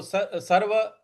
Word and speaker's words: सर्वं: सर्वं, देखो सर्व के ऊपर जो अनुस्वार है उसका उसके आगे च है। तो च छ ज झ इया, जो इया होता है उसका उच्चारण यहां पर ले आना है। तो सर्वं, सर्वं, इस प्रकार से बोलेंगे सर्वं चमई, सर्वं चमई,